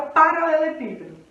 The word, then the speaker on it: paralelepípedo: exemplo vamos que aparece lá silabicamente a palavra paralelepípedo tá paralelepípedo uma duas três quatro cinco seis sete frente tem que ser sílaba a sílaba tônica de paralelepípedo ou ela